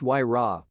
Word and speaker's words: Huayra: Named after the Incan god of winds, the Huayra, pronounced Huayra, boasts an AMG-sourced 6.0-liter V12 with 2 turbochargers, resulting in 620 horsepower and a massive 740 pounds-foot.